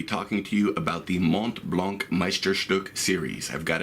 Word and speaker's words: Montblanc: may have noticed by now that I've been pronouncing it Mont Blanc and not mome blow in the French fashion it is a German